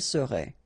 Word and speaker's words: serait: seriez, il serait, elle serait. Okay, so let's see how it goes. Je serais, final S not pronounced. Tu serais, same thing here. Il serait, elle serait, final T not pronounced.